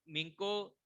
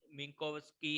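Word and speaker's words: Minkowski: जब मिंको मैं इसको मिंको डिस्टेंस ही बोल रहा हूँ क्योंकि मिंकोवस्की है, वैसे तो थोड़ा सा प्रोनाउंस गलत हो जाता है।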